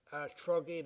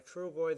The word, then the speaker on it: Trugoy: Oh, it was Dave De La Soul's Dave, and I don't know how to pronounce that. Truggy the Dove, Trugoy, sorry, Trugoy the Dove.